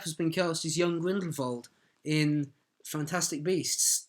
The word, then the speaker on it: Grindelwald: Johnny Depp has been cast as young Grindelwald, or possibly Grindelwald, because I think that's how Rowling pronounces it. Okay. Grindelwald. Anyway, Johnny Depp's been cast as young... We're going to say Grindelwald now. Vold. Yes. It sounds better.